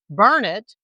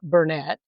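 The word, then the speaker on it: Burnet: including Mahaya, not Mexia, Bernett, not Bernett, and Palestine, not Palestine. On that trip, she was dubbed my sidekick by an antique shop owner in Bernett, not Bernett.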